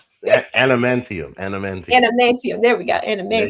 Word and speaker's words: adamantium: Adamantium.